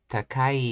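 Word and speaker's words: 高い: For example, takai is pronounced takai is pronounced low, high, low, and machikai is pronounced low, high, high, low.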